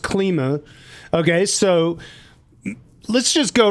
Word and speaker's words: Klima: So, uh you it it's pronounced KLMA.